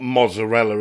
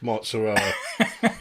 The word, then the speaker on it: mozzarella: same as New York it's not Mazzarella is it it's mozzarella Ibiza not Ibiza as we